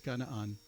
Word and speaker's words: Canaan: Looks like Canaan. It's Kanan. There it is.